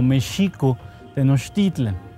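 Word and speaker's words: México Tenochtitlan: El nombre, nosotros lo debíamos pronunciar muy estrictamente como Mexico Tenochtitlan.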